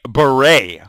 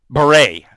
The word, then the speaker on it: beret: anyway and also please it's a beret it's called beret say it with me but Rea but